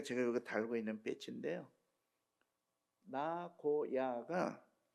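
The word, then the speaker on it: 名古屋: 나고야가 우리 발음으로는 명고옥이지만 1번 발음으로 나고야예요.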